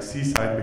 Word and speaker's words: CSIDH: And we called it, so it's called CSIDH, but we prefer to pronounce it like Seaside because it was in Tenerife, okay?